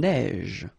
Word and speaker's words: neige: E not pronounced, une neige, une averse, so same thing here, a neige, final E not pronounced, you only pronounce this j, same thing here, averse, okay, S is pronounced, the E is not pronounced.